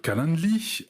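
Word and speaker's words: Calendly: fait le tour des solutions performantes nous avons calendli qui s'écrit ca l e n d l y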